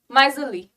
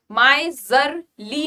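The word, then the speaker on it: miserly: यहाँ पे are silent है, ठीक है, जेड की आवाज आती है। माइजली, माइजली, माइजरली नहीं बोलेंगे, आर की आवाज नहीं आनी चाहिए।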